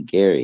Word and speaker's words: Gary: Sure, I think it's actually Gary Anderson. That's what Dave was telling me. Gary. What did I say? Jerry? Hell, I don't even know. You said Jerry, but that's because of the way it's spelled, you know.